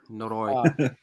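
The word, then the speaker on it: ノロイ: The syllable is on the latter half of the word. Noroi.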